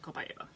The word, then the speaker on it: copaiba: I pronounce it Copaiba.